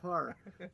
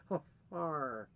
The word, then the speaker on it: Hfuhruhurr: Hfuhruhurr. It's like, how do you spell that? HFU, HFR, HFURR. Just like it sounds. Hfuhruhurr.